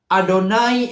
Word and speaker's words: Adonai: mereka menyebutkan semua Israel adonai eloheno Ado naik itu yang benar jadi bukan dalam konteks penulisannya Iya tapi dalam konteks pengucapannya karena kita harus tahu